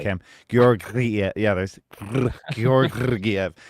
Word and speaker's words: Georgiev: Georgiev. I'm gonna do this all night. Samsonov. It's technically Georg. Like you have to like roll one of the R's, and it's tough.